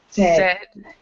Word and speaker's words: said: And so it's kind of like, let me get the writing availability up, but it's kind of like S-E-D. It's not, there's not an A-I there in the pronunciation.